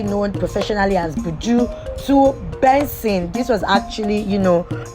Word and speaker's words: BNXN: stage name from budu to bnxm which is pronounced as bensing yes it's still benzene but it's just the